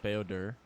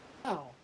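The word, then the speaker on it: Bao-Dur: Beodur. Okay, yeah. Like for some reason, again, I want to say Bao. I'm like Bao. But apparently no, you don't pronounce it that way.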